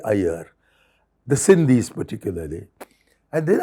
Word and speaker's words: Aiyar: by the fact that although many North Indians have great difficulty in pronouncing my surname correctly these pakistanis I was meeting in Karachi were all able to easily say Ayer the sindhis particularly and